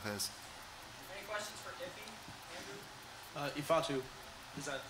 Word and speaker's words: Ifeatu: Ifeatu, is that how you say it?